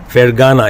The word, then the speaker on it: Fergana: I'm showing it to the audience, The Girl from Fergana. Is that the right pronunciation? That's right.